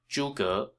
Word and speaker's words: Zhuge: Note that his last name is 2 syllables, Zhuge, rather than the more common one-syllable Chinese last name.